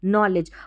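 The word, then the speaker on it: knowledge: Already यह आ गई इसको नो और लेज करके पढ़ा क्योंकि के एन में के साइलेंट है। ठीक है? और डी जी ई को हमने ज पढ़ा। नॉलेज।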